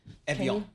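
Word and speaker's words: Évian: Evian like the water.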